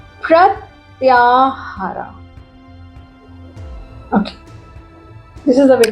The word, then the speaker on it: प्रत्याहार: इस प्रोसेस को बोलते हैं प्रत्याहार। इसको बोलते हैं, इस प्रोसेस को बोला जाता है प्रत्याहार। Okay, this is the way to pronounce it.